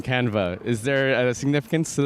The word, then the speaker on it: Canva: like what's the word canvas in French and he's like it is canva unbeknownst to us it's spelt exactly the same as canvas they don't pronounce the S though no one registered the